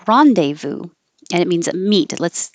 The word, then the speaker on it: rendezvous: started with Rendezvous and it's a word from French so it definitely doesn't sound the way that it looks we don't say this Z or the S Ron de Vu Rendezvous and it means meet